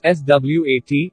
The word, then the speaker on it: Swat: Swat District Pashto, Urdu, pronounced Swat, 1, is a district in Malakan division of Khyber Pakhtunkhwa province in Pakistan.